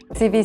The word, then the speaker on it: CEWE: CV, ça s'écrit C-E-W-E et pour la petite histoire, cette marque a été fondée à partir des initiales du fondateur, C-W, auxquelles ont été rajoutés 2 E pour qu'il soit prononçable et en français on le dit CV.